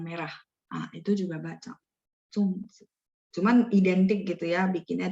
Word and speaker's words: zongzi: Bacanya ada 4 ya, zongzi.